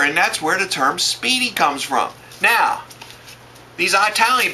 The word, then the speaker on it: Spiedie: says it says the term Spidey but it's pronounced Speedy I guess comes from the Italian SPO SPO